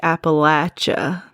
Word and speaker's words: Appalachia: Anyway, I hear some people say like appalacha and that sounds weird to pronounce a's like that. So I say appalachia.